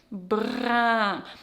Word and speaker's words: brun: Brun. Remember, smile, drop.